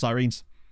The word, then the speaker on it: Sirens: far we've done well sirines that's just how it's pronounced um I was made aware that it pronounced sirenes so I I adjusted accordingly I don't think I